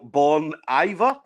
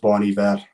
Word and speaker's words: Bon Iver: there, just saying, ask him to sing Exile Born Iver. Is that what he's saying? And Taylor Swift. It's pronounced Bon Iver, but I'll let you away with it, Stim.